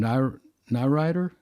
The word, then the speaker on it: Nirider: Nyrider? Yeah. Nirider.